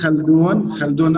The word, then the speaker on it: Khaldun: It is Khaldun. Khaldun. Khaldun. Okay. Khaldun, yeah, from the back throat.